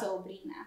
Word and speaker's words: sobrina: I couldn't even tell, like, the R, because this is where you roll your R's, right? Mm-hmm. Like, you maintain a little bit of, like, softness to the R, too, because it's not like, it's sobrina.